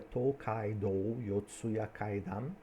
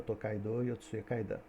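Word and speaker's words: Tōkaidō Yotsuya Kaidan: E o filme se chama Tokai Yotsu Kaidan e é baseado e a pronúncia corretinha seria to caidou yotsuyaidam, mas a brasileirana tocaidou euyaidã e narrativa extraordinária de Tocaidô e Tocaidô seria uma grande eh estrada que percorria o o Japão.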